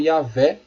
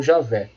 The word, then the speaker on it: Yahvé: Entretanto, aos poucos, esse nome vem sendo substituído pela forma Yahvé ou Javé, que é a pronúncia mais próxima do original.